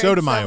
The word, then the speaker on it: Sotomayor: soda Sonia mayor that's that is the worst pronunciation I said it wrong that I've ever heard Sotomayor one Sonia Soto Sonia Sotomayor uh that they